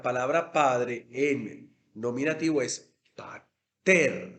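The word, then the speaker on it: πάτερ: Pater gemón. Se supone que pater es un vocativo, yo lo estoy invocando, o Padre de nosotros. Pater, mire que el acento está sobre la penúltima sílaba.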